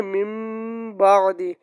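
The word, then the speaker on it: مِنْ بَعْدِ: जैसे मिसाल दी हुई है, ये मिन बादी है ना, तो इसको हम पढ़ेंगे मिम बादी।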